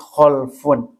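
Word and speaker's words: خَلْف: Yang pertama disebut khalafun, yang kedua disebut khalfun. Kalimatnya sama tapi beda harakat tengahnya.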